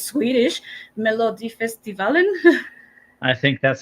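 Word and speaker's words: Melodifestivalen: pronouncing it correctly because I know it's Swedish melod festivalin I think that sounds like a great pronunciation Mariel 10 out of 10 okay perfect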